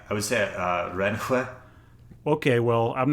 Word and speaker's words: Renske: Surely it's not pronounced Renski. How do you say it? You said Renske. Like Rensk? I would say Renhue.